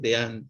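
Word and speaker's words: Dehaene: se escribe de h h n de jaén de an se pronuncia los que saben que él dice que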